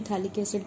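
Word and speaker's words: phthalic: कैसे बोल सकते हैं बट यूजुअली था लिक्विड कहते हैं पीएच साइलेंट यहां पर जब इसकी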